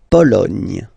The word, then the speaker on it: Pologne: La Pologne. Nya, again. La Pologne.